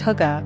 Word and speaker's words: hygge: world the concept of hygge pronounced hookah a warm very human